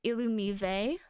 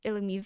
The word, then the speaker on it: Illumise: Illumise and Rayquaza were like the main weird pronunciations. Why is it even called Illumise? Okay, illuminate, so illu. Me. Why is it not illumise?